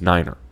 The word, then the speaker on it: niner: Pronounced phonetically, 3 is tree, as in the thing with fucking leaves on it. 5 is fife, F-I-F-E. And 9 is niner.